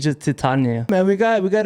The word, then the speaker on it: Titania: know um i was listening to you say titiana that's not her name and that's how i pronounce it in my head too trust me i think you want to add that second t it's just titania man we got we got a great preview